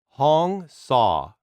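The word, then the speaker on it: Hong Sau: five saying the mantra hong saw pronounced hong h-o-n-g as it sounds saw is s-a-u but pronounced like a hack-saw which means i am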